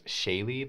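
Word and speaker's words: Shaighligh: Studio 76 um I will be playing as Shaye that is spelled s h AI g l i g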